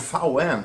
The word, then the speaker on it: VAUEN: So fen um well this is just uh the pronunciation in German for v and n.